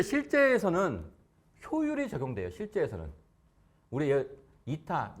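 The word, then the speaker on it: η: 우리 이타, 요걸 이타라고 읽어요.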